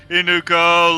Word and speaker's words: Inuko: Inuko, let's go. It rhymes.